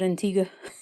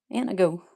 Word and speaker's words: Antigo: They laughed at me when I said Antigo. They said, "That's not how you pronounce that." And I'm like, "Well, how do you pronounce it?" "Annigo."